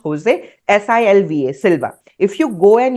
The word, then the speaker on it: Silva: with with a hyphen oer that's how it's pronounced Jose s i lva Silva if you go and you find these